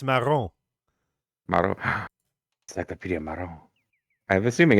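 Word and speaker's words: marron: No, it's Maron.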